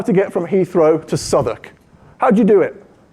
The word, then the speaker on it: Southwark: This is, as you would pronounce it, "Southwark," and that's how we know you're American. It's "Southwark," apparently.